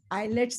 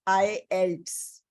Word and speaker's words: IELTS: uh for my uh for my IELTS training eyelids is wrong pronunciation Alice it's not highlights what are the